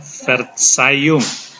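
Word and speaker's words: Verzeihung: ver sayung itu Maaf ingat ini ada e dibaca i verung artinya maaf Jadi saya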